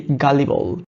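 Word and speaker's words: gullible: যখন দেখবেন যে দুইটা কোনো লেটার একসাথে আছে, ফর এক্সাম্পল এখানে এল আছে হচ্ছে দুইটা, তো এইখানে যে কোনো একটার উচ্চারণ হবে আর একটার উচ্চারণ হবে না, সুতরাং নট গালিবল, সে গালিবল।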